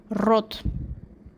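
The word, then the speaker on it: рот: do you pronounce mouth in Russian language you pronounce rot and how do you write mouth in Russian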